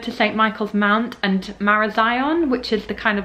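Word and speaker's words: Marazion: we're relying on buses and getting back from marasian mara zion st michael's mount was a bit of a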